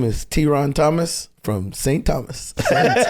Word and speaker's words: Theron: My mother says Theron. And in St. Thomas, we don't pronounce the H's. You know what I'm saying? So it's not like Theron. The H ain't there.